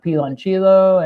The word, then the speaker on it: piloncillo: of cinnamon sticks and piloncillo and piloncillo. The sweetener. Piloncillo. Got it. Yep. I was using the Italian pronunciation on Spanish words. That's why it didn't come out right.